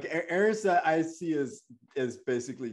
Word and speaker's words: Eris: Val's really interested in heiress or Eros how do you say that Aries Aries oh Eris that's interesting that heiress